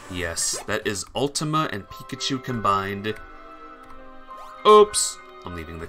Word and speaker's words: Pikachu: Pikachu.